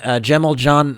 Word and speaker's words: Cemil Can: a C but actually it's actually pronounced like a J in Turkish so that's why actually a lot of his friends call him JJ and Gemmell John or JJ is actually